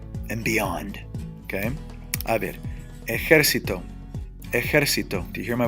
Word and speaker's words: ejército: We will always carry an accent mark because it's 2 syllables and beyond. Okay? A ver. Ejército.